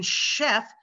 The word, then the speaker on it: chef: like a sneezing sound in chef it's an sh sound you have to point